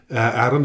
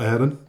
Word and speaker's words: Arron: It is pronounced Arron, isn't it? Not Aaron? Yeah, that's correct, yeah.